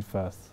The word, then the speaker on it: Firth: I think you mean Firth.